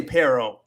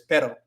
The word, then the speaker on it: pero: days ago, actually, because you want to roll your R with the single one, but no, it's just pero. Pero. So you can kind of make the E sound a little bit longer to prevent you from like rolling your R, but you don't want to roll your R with with pero, because it's not supposed to be a rolling sound.